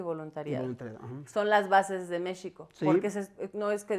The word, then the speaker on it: México: México es, yo sé la en la lengua la X se pronunciaba en muchas ocasiones como sh, ¿no? Con el sonido de sh. Entonces se decía México.